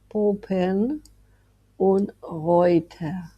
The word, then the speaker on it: Poppenreuter: Para poder decir este apellido lo dividimos en dos partes, Poppen und Reuter. Recordar que en fonética EU la decimos OI.